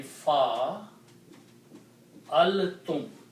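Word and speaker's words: فعلتم: Now if in these 3 letters I add 2 letters, tum, okay, and the pronunciation will be fa al tum.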